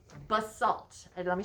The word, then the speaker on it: basalt: first one is called basalt and let me spell that b-a-s-a-l-t bus salt b-a-s-a-l-t i'm going to show